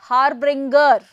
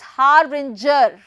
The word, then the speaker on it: harbinger: people calling it as harbringer harbringer using G as g g sound but the actual pronunciation is haringer haringer as if we have ginger remember e g plus